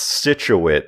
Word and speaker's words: Scituate: It's pronounced Scituate, and I know that because I'm from the area.